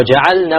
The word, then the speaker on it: جعلنا: Now ja'alna, we have to be very careful. The lam must be clearly pronounced, because lam and noon have similar makharij, right? So many times it's eaten up.